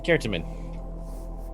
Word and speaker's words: Certamen: To Certamen. Yes. Which, by the way, is how you say it. Put it in the Discord. It's Latin.